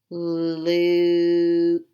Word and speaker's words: Luke: are gonna work together magic e is silent you says its own name Luke Luke good now I'm gonna